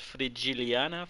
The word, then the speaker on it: Frigiliana: to pronounce this correctly I think it's pronounced free jilliana frigiliana Spain by Chris